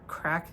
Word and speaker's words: craic: So if you want to check out our podcast, we are Crack the Egg. Crack spelled like this, CRAIC.